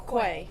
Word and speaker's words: Quay: Is it key? Or It's Quay. Quay. Just checking, because sometimes it's pronounced differently.